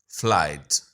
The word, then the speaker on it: flight: फ्लाइट, again ये GH जो है ये साइलेंट है लेकिन इन्होंने डायग्राफ में दिया है।